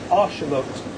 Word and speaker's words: axolotl: the indigenous peoples, is Arshamot. So that's actually pronounced. you would think there's an S in there, wouldn't you? Yeah, Arshamot.